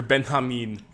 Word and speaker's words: Benjamin: this nice piece about Walter Ben Hamin that's how you say it benam Ben Hamin v